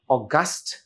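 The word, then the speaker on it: august: এরকম কিছু like and অগাস্ট group of athletes or অগাস্ট group of প্লেয়ারস তার মানে একদল খুব দক্ষ চৌকস খেলোয়াড় সুন্দর না উচ্চারণ হবে তখন এটার অগাস্ট সেইম বানান আর ওটা এডজেক্টিভ রাইট আর এটা হচ্ছে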